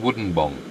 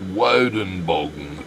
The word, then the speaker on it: Woodenbong: there to do around Woodenbong?" Lady in the store flew into a fury. Wow. In demanded, "It's pronounced wen bogen. Thank you."